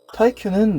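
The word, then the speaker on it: スーパー耐久: 슈퍼타이큐는 내구의 일본 발음입니다. 여기서의 내구는 장비나 물건의 내구도를 이야기할 때 그 내구가 맞아요.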